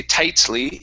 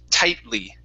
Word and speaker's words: tightly: So when I say this, I don't say tightly. It's tightly. Tightly. This is called a stop T.